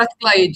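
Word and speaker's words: Strathclyde: She holds a PhD in marketing from the University of Strat Clyde. I hope I pronounce well that name. The name of Stretch Clyde. Yeah. Yeah, you pronounce the right.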